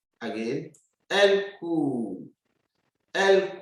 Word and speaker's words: court: We say elle court. Again, elle court. Elle court. It's cool. The T is silent. This T is not pronounced, so don't mention it.